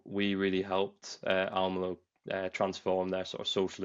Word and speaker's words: Almelo: of our customers over in the Netherlands, Gemeente Almelo, if I pronounced that right, Yeah, you did.